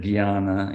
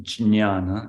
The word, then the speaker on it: Jñana: And I'm going to pronounce it Jnana, even though my understanding is that in Sanskrit, it's actually pronounced Jñana. And I think I've mentioned this before. But in Hindi, that symbol is pronounced Gya, and we're going to